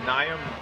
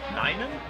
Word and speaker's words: Nina: Naya, no, sorry, it's Nina is the quarterback.